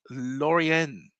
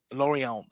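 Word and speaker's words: Lorient: club on a long-term deal from league side Laurian Laurant. Sorry, see Manny has to correct me with all my pronunciation.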